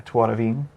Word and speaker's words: Tuarvin: I just got to see the boat for the Tuarvin, right? That's how you say it? Yeah, Tuaravin. Tuarvin.